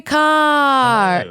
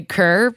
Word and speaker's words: Ker: car. Did I pronounce last name? Did you pronounce it perfectly? I do sometimes want to say Kerr, but because that's how it's spelled uh